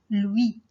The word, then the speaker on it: Louis: Par exemple, lui. On dit lui, on ne prononce pas S.